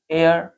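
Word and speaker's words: heir: है जैसे our honest एयर ठीक बिगिन विद अब देखिए इनको हमने जब पढ़ा है तो यहां पर एच जो है वो इस प्रोनंसिएशन करते समय एच साइलेंट है ठीक है ओ से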